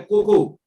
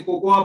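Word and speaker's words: cocoa: है, और वो है कोको, जिसको कई लोग गलती से कोकोआ बोलते हैं। कोकोआ नहीं है, हिंदी में उसका प्रोनाउंसिएशन कोको होता है, इंग्लिश में लिखा जरूर कोको आ जाता है।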